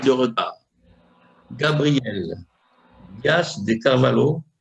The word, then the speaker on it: Carvalho: Gabriel Dias de Carvalho, ça se prononce comme ça, Carvalho, hein? Oui, c'est presque ça, c'est Carvalho.